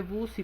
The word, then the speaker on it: busy: Se escribe busy, pero no lo vayan a pronunciar así, chicos, porque acuérdense que en inglés en la mayoría de los casos no se pronuncia como está escrito, porque eso es lo que nos hace que nos equivoquemos, ok.